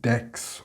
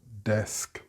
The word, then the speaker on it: desk: You may be saying axe instead of ask, max instead of mask, tax instead of task, or flax instead of flask, and dex or text instead of desk, etc. If you are getting these incorrect results, then you are pronouncing an X instead of the sk sound.